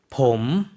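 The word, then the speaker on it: ผม: 봄, 네, 봄. 사성으로 발음을 했어요.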